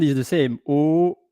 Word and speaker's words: eau: O, O. And then there is O, H-A-U-T, and in French we don't pronounce the H.